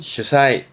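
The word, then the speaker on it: 主催: 발음은 슈사이, 슈사이.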